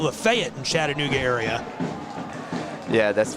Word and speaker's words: Lafayette: Sutton played 78 games for Lafayette College from 2018 to 2022. I had to pause. There's a city that's spelled the exact same way about 40 minutes south of here, and they call it Lafayette in Chattanooga area.